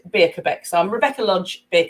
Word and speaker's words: Birkbaek: lots of funny games i always have to spell it but it's said beer quebec so i'm rebecca lodge